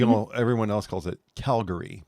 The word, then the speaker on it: Calgary: everyone else calls it calgary putting the emphasis on cow where you're putting it on gary calgary it's one of those